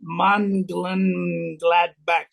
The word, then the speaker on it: Mönchengladbach: And it is in, I can't pronounce it, Mönchengladbach, Monchengladbach. That's how you pronounce it in Germany.